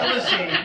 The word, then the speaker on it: Ulisse: Ulisse, U-L-I-S-S-E is the correct pronunciation.